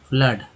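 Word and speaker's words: flood: तो होता ही है, ओ डबल ओ का अ भी होता है, जैसे कि फ्लड। F करते हैं LOOD, क्या उच्चारण हो रहा है? फ्लड उच्चारण हो रहा है। क्या बोलते हैं? फ्लड बोलते हैं।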